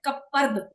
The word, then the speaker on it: कपर्द: Ma'am की Hindi week है इसलिए मैम मैं बता रही हूँ, तो करपद नहीं है, कपर्द। प के बाद रहा है र के ऊपर, तो वो कपर्द बोला जाएगा।